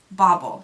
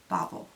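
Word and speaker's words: BaubleBar: how you say it bauble not like bobble Bobble bar okay that's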